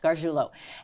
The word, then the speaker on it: Gargiulo: Correct, Gargiulo.